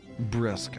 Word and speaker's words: brusque: Brisk. Oh, okay. That's interesting. Pronouncing it that way, even though there's not even a hint of an I anywhere?